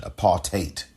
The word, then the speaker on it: apartheid: Apartheid, which is the proper pronunciation of the Afrikaans. Apartheid situation with one-party minority rule.